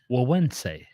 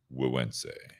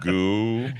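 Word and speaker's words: Güegüense: Well, yeah, so this is pronounced, as you see on the screen. If you're listening on the audio, it's L-E-L, which, yeah. And then Gueguense. Gueguense. Yeah. Not what I said the first time I tried.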